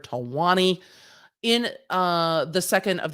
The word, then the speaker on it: Talwani: before us district judge tawani not trilani i'm always going to say it wrong in my brain because i am a nerd talwani in uh the second